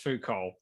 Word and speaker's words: Foucault: pronounced I'm like okay it's pronounced Foucault so that that ivy league Professor during that little video of he's got like a million views he actually said folko but then he corrected himself later in the video said food called so he I think he realized he mispronounced it the first time and um he's like